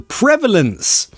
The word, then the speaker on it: prevalence: prevalence you Legend yes the prevalence pronunciation the prevalence three schwas no two schwas I'm lying pre